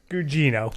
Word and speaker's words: Gugino: Oh, I don't know how to pronounce it. Is it Giacchino? Carla? Think of some shit that we say on this show a lot. We're talking. Remember what he said about disremembering? Yeah. Carla Gugino.